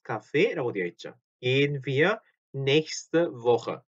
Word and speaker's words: nächste: 자, nächste인데 nächste를 조금 이렇게 발음을 이어서 그래서 nächste Woche라고 됩니다. nächste Woche. next week죠. next week. 그래? nächste Woche. 자, 이게 발음이 조금 빨리 지나가니까 nächste Woche 이렇게 들릴 수도 있어요. 근데 nächste Woche 이렇게 히는 짧고요. 요거 히는 짧고 스테가 붙어서 nächste Woche.